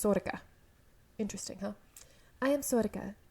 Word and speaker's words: Sorcha: then this woman here instead of sorcha as it looks it's sorka interesting huh i am